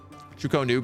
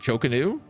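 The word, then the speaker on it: Chu-Ko-Nu: Chukonu better, not Chokanu.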